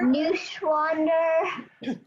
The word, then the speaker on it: Neuschwander: Cindy, like, Neuschwander. Neuschwander.